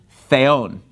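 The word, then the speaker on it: θεόν: Enarchi in ologos, ke ologos in pros ton theon. So notice the word for God, theon, the accent is on the second syllable. That's where the mark is.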